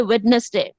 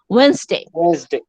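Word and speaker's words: Wednesday: যেমন ধরো আমাদের ম্যাক্সিমাম স্টুডেন্ট উচ্চারণ করে ওয়েডনেসডে, this is নট ওয়েডনেসডে, this is ওয়েডনেসডে।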